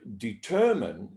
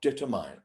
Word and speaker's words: determine: follow there are some so in the word determine that it's pronounced determin not determine one example but yeah and that's what you